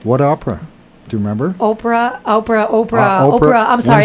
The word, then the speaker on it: Oprah: the next part so now I'm dreaming with Opera but a really bad dream I'm having nightmares with Opera which is really weird what Opera do you remember Oprah Oprah Oprah opra I'm sorry I said it